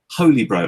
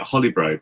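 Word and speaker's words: Holybro: It's a Holy Bro, and I've been calling it Holly Bro because that just went in my head like that, well, and that's stuck in my head I'd now.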